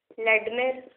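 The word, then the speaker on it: Vladimir: First factor जो है वो है एस्ट्रागोन, सेकेंड वन इज लडमिर, इसमें वी साइलेंट रहेगा, लडमिर इसको प्रोनाउंस करेंगे।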